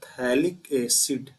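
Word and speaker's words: phthalic acid: और इस वाले का नाम जो है, जो पहले से दिया है, इसका नाम है थैलिक एसिड, पीएच साइलेंट है, याद रखिएगा, थैलिक एसिड है ये।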